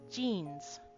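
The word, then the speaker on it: じん: So, he complained about his new jeans.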